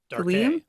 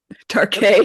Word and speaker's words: Darke: Darke. Darke. It's French. That's why it's Darke.